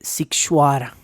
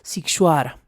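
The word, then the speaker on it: Sighișoara: del pueblo militarizado de situará situará escríbase totalmente distinto a lo que acabo de pronunciar lo estoy pronunciando fonéticamente pero se escribe sighisoara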